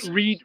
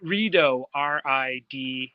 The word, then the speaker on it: Rideau: Rideau Lakes? Like Doritos? Rideau, Rideau.